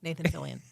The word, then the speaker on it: Nathan Fillion: Nathan Fillion, yes.